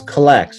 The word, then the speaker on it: Collects: got a solution so we go so it's collects right i'm saying it correctly yeah you said